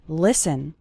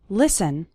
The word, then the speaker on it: listen: to an English podcast the letter T is silent in the word listen listen listen to an English